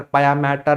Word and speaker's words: pia mater: Observe the spelling, it's not matter, it's mater. Mater means mother, maternal, paternal. That was the spelling, not matter, pia mater, dura mater.